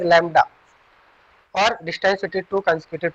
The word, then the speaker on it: lambda: Okay, distance between two consecutive crusts is called wavelength, which is represented by this symbol, which is pronunciated as lambda, or distance between two consecutive troughs is also called wavelength.